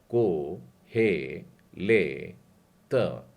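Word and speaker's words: קֹהֶלֶת: में यूं लिखते हैं, यह है कुफ, और उसके ऊपर एक बिंदु डाला है, मतलब उच्चारण हो जाएगा को। हे के नीचे ए की मात्रा, और लमेद के नीचे भी ए की मात्रा है, और उसके बाद में ताव है। को हे ले त, कोहेलेत।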